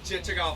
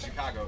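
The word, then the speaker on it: Chichagof: Chichagov Island. Can you guys say Chichagov? Chichagov. Awesome. I'll make sure we can pronounce it by the end of this tour. can just call it Chicago if you really want to.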